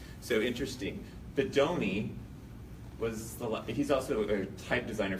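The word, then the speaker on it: Bodoni: That's how you say it, Bedoni.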